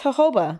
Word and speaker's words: jojoba: I don't know if that's how I say jojoba. Oh, it's jojoba. Jojoba? Yeah.